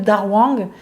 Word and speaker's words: dahuang: Ça s'appelle dahuang. Donc en chinois, le H se dit R. Et dahuang, ça s'écrit D-A, plus loin H-U-A-N-G. Donc dahuang, vous pouvez le trouver